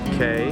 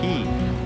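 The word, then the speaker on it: quay: one thing I learned today is that the word I always call K, in a lot of the Irish songs we do, it might rhyme with away, but they call it key. So this is the Keys bar, not the K's bar.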